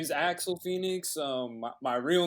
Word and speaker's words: Axl Phnxx: me uh two local artists katrina kane and axel phoenix axel did i pronounce that right yes sir yes you did